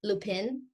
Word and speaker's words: Lupin: It's spelled like Lupin, Lupin. I think you say Lupin in French.